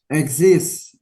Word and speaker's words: exist: Exist. Exist. Nggak ada E. Ini I, bukan E.